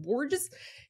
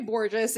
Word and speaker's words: Borges: was like is it bores he go she goes no it remind it rhymes with gorgeous I was like perfect I'll never forget it Tory Borgeous is a Coast Guard